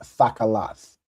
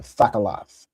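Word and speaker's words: תכלת: Remember everything has that ah sound, right?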